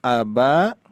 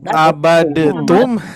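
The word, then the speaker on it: عَبَدْتُّمْ: Nah, di sini ada abatum. Nah, ya. Di sini tasdid tanya. Nah, gini, ini dibacanya gimana? Abatum. Abadetum atau gimana nih? Dipantulkan tidak dalnya? Tidak. Tidak ya. Tapi digimanakan? Diidghamkan.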